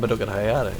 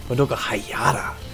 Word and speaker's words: Madoka Hayata: It's not Madoka Hayata. It's Madoka Hayata.